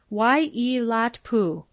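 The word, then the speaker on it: Waiilatpu: It's pronounced Wai-e-lat-pu.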